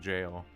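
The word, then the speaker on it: gaol: as our jail and his spell is pronounced like jail it's just that word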